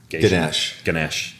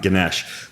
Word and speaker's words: Ganesh: I know it comes back to the protocol that I butchered, Ganesh. I was close. And it's not a doctor, it's a Hindu god, Ganesh.